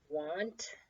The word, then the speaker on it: want: that's a bit BDM want again you could kind of tap that out the hard part is that letter A sounds like it should be an O but it's not it's an A then we have nothing